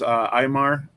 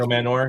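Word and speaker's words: Ayomanor: Aymar, is that his name? I can't pronounce it. Io Manor, yeah.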